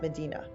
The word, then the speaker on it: Medina: to medina and obviously this word medina some of you maybe are from medina around parts of ohio but this is pronounced medina use what you know